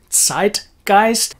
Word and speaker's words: Zeitgeist: of course would be zeitgeist as english speakers we are mainly not aware that the german zed has its very own particular sound which is like pronouncing a t s but at the front